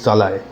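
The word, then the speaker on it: Szalay: author David জালায় আমি প্রোনাউন্সিয়েশনটা দিয়ে দিচ্ছি আমি প্রোনাউন্সিয়েশন যে একচুয়ালি কি হবে সেটা নিয়ে আমি কনফিউজ ছিলাম তো ডেভিড জালায় হাঙ্গারিয়ান অথর ডেভিড জালায় প্রথম হাঙ্গারিয়ান অথর যিনি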